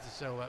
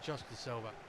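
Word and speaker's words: da Silva: Actually mispronounc it just to Silva, but never mind Jade to Silva rather than just Silva.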